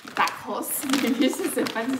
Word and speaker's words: Backhaus: Alors, my friends call it back house. That's kind of a English pronunciation, I would say. But that looks German to me. Backhaus, maybe this is a fun too.